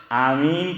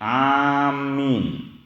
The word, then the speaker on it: آمین: کے اوپر مد یا کھڑا زبر آمین کہتے ہیں، اور یہودی اور عیسائی امین کہتے ہیں، کہ اس کے اوپر کھڑا زبر یا مد جو ہیں اس کا استعمال نہیں کرتے۔ اور اس کا تلفظ اس طرح بھی آیا ہے، میم پر تشدید، آمین، اس طرح بھی اس کو پڑھا جاتا ہے۔ تو مختلف طریقوں سے